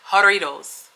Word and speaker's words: Jarritos: to pronounce it correctly I think it's called harita haritos because the J is silent Jarritos good morning y'all I'm